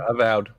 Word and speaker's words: Avowed: And then did we ever figure out how to say that Avowed, the You said Avowed.